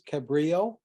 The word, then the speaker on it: Cabrillo: the computer should generate a somebody want to pronounce this Cabrillo that's it I got it right well a Cabrio formatted computer file that you can then email